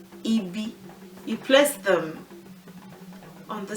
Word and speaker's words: ibi: well, ire, ibi, ire, they have no tone marks on them. So rere for ire, rere for ibi. Re is the tone mark. We don't really put any mark on syllables that have the re tone anymore.